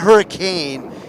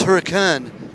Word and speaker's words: Hurricane: been uh been corrected many times to correctly pronounce it it's not hurricane it's huracan utah last call the stage 30 plus a